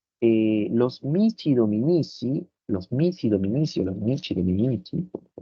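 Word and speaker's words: missi dominici: Las leyes que emitía el emperador se llamaban capitulares y los mici dominici, como se pronuncia en italiano, tenían que velar por el cumplimiento de esas capitulares.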